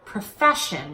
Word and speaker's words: profession: slide first of all make sure that profession and proficient sound completely different there are different vowels in the second syllable but other than that they're pretty similar so profession with an egg proficient with an it also notice the preposition